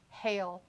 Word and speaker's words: Hail: Thea last name is pronounced like the ice from a storm called Hail or Hail.